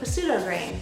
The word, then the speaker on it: pseudograin: is what's called a pseudograin well wait no that's not not pseudo a pseudo grain it's a silent p kind of like psychopath you wouldn't say psychopath buckwheat is a pseudo